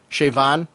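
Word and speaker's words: Siobhan: pronounce your name no you had shayvan and the bh is pronounced like a a v in the gaelic pronunciation i want to look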